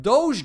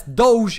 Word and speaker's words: Doge: those of you wondering yes Doge is the correct pronunciation of Doge it's not dog it's not doggie or dodgy or it's not just tarik